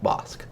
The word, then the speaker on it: Bossk: Star Wars community that it is pronounced boss boss boss well the flavor text